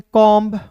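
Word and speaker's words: comb: टी के बाद दोस्तों बी आएगा तो बी साइलेंट होगा। क्लियर है? देखिएगा सी ओ एम बी रहेगा दोस्तों। इसे पढ़ेंगे कॉम्ब कॉम क्लियर है?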